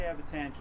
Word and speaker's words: Abbatangeli: Abbatangeli. I say Abbatangeli, but that's okay. Oh, do you? So I've been saying it right.